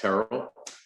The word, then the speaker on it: Terrill: So I'm Terrill, pronounced Terrill, Chicano artist, 2nd generation native Angelino.